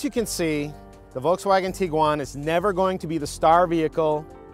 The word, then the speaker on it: Tiguan: Now, there's a little confusion over how exactly to pronounce this vehicle's name. So I looked it up, and it is Tiguan.